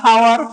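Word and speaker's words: hour: सो इस केस में जितने भी मैंने बोला, एच क्या है इस केस में, साइलेंट है, एच क्या है आपका, साइलेंट है।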